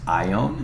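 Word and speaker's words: Javan: the Tigers River um yabin is actually pronounce ion and so you're going to see this in the word Ionia which is going to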